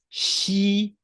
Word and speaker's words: 西: The initial sound, in fact, is the same as the Chinese character xi, meaning west.